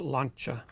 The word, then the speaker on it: Lancia: 2021 you have the lancia delta integrale but i think if you're in italy i think they pronounce it launcher so pretty cool nice